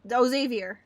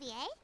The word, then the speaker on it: Xavier: Festival Mr Xander Xavier I me I spent it I pronounced it wrong Xavier hey isn't that zavier o zavier back in